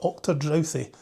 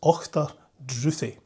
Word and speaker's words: Ochterdruthi: It's not Ochterdrouthi, it's Ochterdruthi. Basically, it means, the Ochterdruthi means the thirsty uplands.